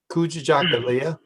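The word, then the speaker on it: Kujichagulia: second one because i'm not sure how it's pronounced and i don't want to be sounding crazy well um coochie jackalia oh yeah i would have really messed that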